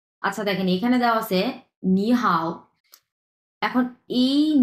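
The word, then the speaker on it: 你好: শুধুমাত্র উচ্চারণের ক্ষেত্রে আমি এখন যে গ্রামারটা বলতেছি আচ্ছা এই নি হ্যা এটাকে আমরা বলব হচ্ছে দুই নাম্বার টন বলব এইযে দুই নাম্বারট এবং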